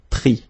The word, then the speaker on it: pris: Same thing here, final S not pronounced, so prendre, pris.